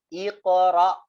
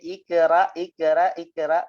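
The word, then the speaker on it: اقرأ: Jangan lupa hati-hati ketika kita menstart untuk membaca Al-Quran, hati-hati yang membacanya jadi, ya, menjadi imalah, ya, iqra, nggak boleh yang jelas, ya, iqra, ra-nya gitu, ya, iqra, nggak boleh bacanya ikra, nggak, tebel.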